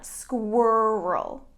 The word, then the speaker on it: squirrel: in my backyard and this is difficult to pronounce because of this qu sound so when we make a qu our mouth makes kind of a an osa squirrel okay so now that